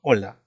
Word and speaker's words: hola: Una interjección, hola. Esta palabra empieza con H y no se pronuncia porque la H es muda, ¿no?